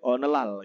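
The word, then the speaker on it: 오늘날: Kemudian ada olelal ya, bacanya itu onelal gitu ya.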